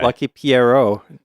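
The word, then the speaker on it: Lucky Pierrot: Lucky Pierro. It's a French word, but yes, I did hear about that and I am excited to try that out, too.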